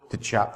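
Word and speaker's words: Tchoupitoulas: Tchop, thank you.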